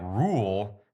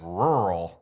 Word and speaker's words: rural: roads, and I'm like, rule. That's rural. You have the two R's in there.